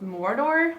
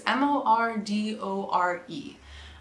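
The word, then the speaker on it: Mordoré: But this is it, and then I believe it's called Mordor, which is the colorway. It's Mordore.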